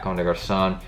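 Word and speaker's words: Comme des Garçons: boys it's clonise they've got a son or comme des Garcons on a why I pronounce it wrong the first time their constant twice unnecessarily but yeah comme des Garcons cg y'all know about them they've done collaborative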